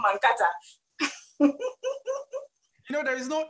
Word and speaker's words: Mankata: mankata okay um i realized you you said mankato it's not the pronunciation that means i've been pronouncing it wrong about this wow i'll be saying mankata you know there is no h there's no